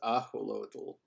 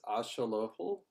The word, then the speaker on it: axolotl: So what is axolotl? Lizard dog? Oh. Like, birds have turkey for Christmas, right? Is watered. Oh my gosh. X is sh in Nahuatl. It's axolotl.